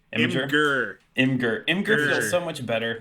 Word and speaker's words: Imgur: So per usual, when we do one of these flavor texts, I have created an imager. Right, that's how we say it. That's the right Imager. pronunciation. Imgur.